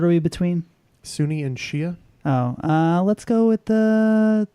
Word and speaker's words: Shia: We went with Shia, which I learned is the real pronunciation and not Shiite.